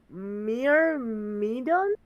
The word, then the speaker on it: Myrmidon: And the info from Loxus, the Myrmidon? Myrmidon? I'm saying that right? Myrmidon? Yeah, you're saying it Myrmidon. correctly. You're Alright. saying it correctly.